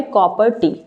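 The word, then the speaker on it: Copper T: तो यहाँ पे बेटा ये क्या है, कॉपर टी, this is द कॉपर टी। ये इंपॉर्टेंट है, आप इसको कट प्रोनाउंस नहीं करेंगे, ये CU और प्लस T है, कॉपर टी है, ठीक है।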